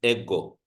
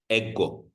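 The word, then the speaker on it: ἐγώ: What is the uh the smooth breathing mark has no effect when I'm pronouncing that letter. And then this uh is an accent mark. This is a forward slash. The forward slash is an accent mark which just means we're going to stress that vowel while pronouncing. Historically accent marks were used for pitching but now stressing is acceptable. So this is ego. Ego ego. Okay.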